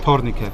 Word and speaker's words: Tornike: Tornike.